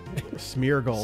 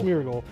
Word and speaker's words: Smeargle: way I have the smle smeargle smeargle that's so I said it right the first